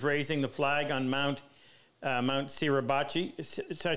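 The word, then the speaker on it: Suribachi: flag with the soldiers raising the flag on Mount Sirabachi. Did I pronounce that right, Luther? Yep, Sirabachi.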